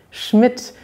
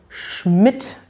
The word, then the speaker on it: Schmidt: hat interessanterweise verschiedene schreibweisen es gibt schmidt mit dt schmidt mit tt und schmidt mit nur mit de sowie mein nachname der wird nämlich nur mit dem gesprochen sie werden aber alle gleich ausgesprochen sie sind also homophon und wenn man diese